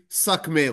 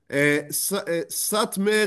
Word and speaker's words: Satmar: And that's why they change it to Satmer, and some would even say Sakmer or Sanmer. They would change the letters in order to change the pronunciation. However, and maybe even Rav Yoel himself sometimes would do that. However, that is wrong. Satmer is just Romanian for the big village.